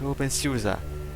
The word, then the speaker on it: openSUSE: Wait, it is pronounced open , right? Alright, so it is in fact pronounced like open .